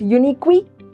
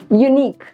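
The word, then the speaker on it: unique: डू we pronounce it यूनिक वीक we don't pronounce it like that right so again silent यूनिक pronunciation and यूनिक नॉट यूनिक वी yes what about this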